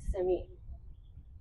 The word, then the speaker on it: Simi: Every occurrence of Simi is not Simi, it's Simi.